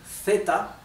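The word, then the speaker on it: zeta: Z or Zed okay in Spanish it can be Theta okay th Theta like the English th sound okay th like like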